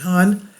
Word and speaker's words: Han: The Han River flows through the center of Seoul, Han, they pronounce it Han, and red lit church crosses burn above the city.